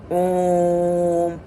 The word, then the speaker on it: ॐ: ओम बोलते ही जहां आपके होठ इस मुद्रा में जुड़ने लगे, सिकुड़ने लगे, तो समझ लो ओम का उच्चारण आपके द्वारा शुद्ध रूप से किया जा रहा है। ओम, तो इस ओम का शुद्ध उच्चारण है।